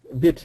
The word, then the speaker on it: bit: So let's just look at the pronunciation difference here. We have bit and beat. And so this is a tough sound for lots of students.